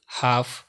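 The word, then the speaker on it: half: এই শব্দগুলোর এল সবসময় সাইলেন্ট থাকে, যেমন কাফ, হাফ, সাভ, বাম, খাম, পাম, চক, টক, walk, code, should, would, colonel, folk, yoke, Lincoln, almond, সেমন।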